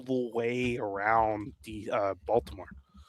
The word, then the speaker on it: Baltimore: Baltimore. Baltimore. Yeah, you don't say the T.